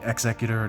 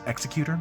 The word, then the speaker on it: Executor: We have the Executor Docking Bay. You know, as a kid, I always pronounced it Executor because I thought it sounded way cooler, but apparently it is Executor.